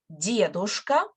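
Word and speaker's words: дедушка: so let's repeat that stress on the first syllable diadosa so we have much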